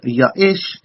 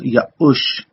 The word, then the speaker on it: Ya'ush: Especially in this instance is a name that's written as Yaish, but is pronounced as Ya'ush.